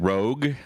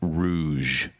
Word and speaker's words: Rouge: from the Detroit area but when you said Rogue that word is pronounced Rouge you in reference to the Rouge hunsville you